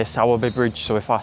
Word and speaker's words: Sowerby Bridge: The town itself is actually called Si Bridge. I think I'm pronouncing that right. The map location will be up on the screen now. Anyway, so I say Saabby Bridge.